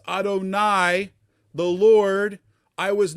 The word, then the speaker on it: Adonai: Almighty but by my name that Jewish people pronounce Adonai the Lord I was